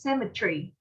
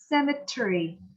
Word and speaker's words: cemetery: Đối với UK, người Anh thì bạn đọc là cemetery. Cemetery. Những âm nhất các bạn. Cemetery. Còn với US là giọng Mỹ thì bạn có thể đọc thành 4 âm.